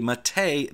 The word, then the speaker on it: MATE: with the correct colloquialisms the developers of a boon to MIT a call it Matei so therefore I call